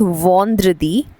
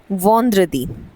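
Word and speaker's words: vendredi: सो य दी यदि Friday we से इट एज वंद्रदी वन द्र दी वंद्रदी देन वी हैव सैटरडे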